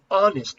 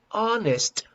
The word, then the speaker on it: honest: h sound here as you don't pronounce the h sound here honest how do you pronounce the the honest the honest man for